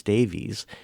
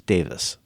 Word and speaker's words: Davies: the uh the Kinks, it's spelled in a way that Americans would pronounce Davies, but it's pronounced in Britain as Davis.